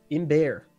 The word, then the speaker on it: Imber: could hear that oh i found the pronunciation hold on in bear apparently bear like like like a bear well except bear bear